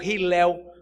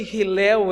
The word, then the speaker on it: Hillel: A escola de Hillel, ou Hillel, como você quer pronunciar. A escola de Hillel era uma escola famosa, porque esse Hillel era famoso.